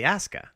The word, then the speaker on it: Asuka: It's spelled Asuka, but they say Asuka.